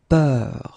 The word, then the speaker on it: peur: And then we will have a little bit the same, but it's a bit lighter, more open, and it's peur.